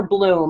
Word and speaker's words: Blum: It's actually Hungarian, and it's somewhere in between Blum and Bloom.